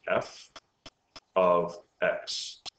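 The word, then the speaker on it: f(x): equal to 2x minus 3 okay this is pronounced f of X okay meaning is a function of X it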